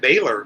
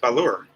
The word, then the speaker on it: Baler: be pushing it yeah I would pronounce that baler but it's not it's a lure I've been corrected a few times here on that haven't made it up there myself but Melanie Melanie